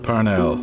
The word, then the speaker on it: Parnell: series with Charles Stewart Parnell or parnel is the correct pronunciation but nobody says parnel Street you know I I